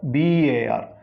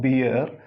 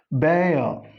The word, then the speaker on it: bear: It is not beer, it is bear. It is B-E-A-R, bear. This is beer. This is bear. In all these cases, final R is silent.